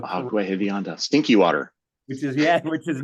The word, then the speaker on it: Agua Hedionda: Not only that, David, you were able to pronounce the name of the lagoon, Agua Hedionda, Agua Hedionda, stinky water.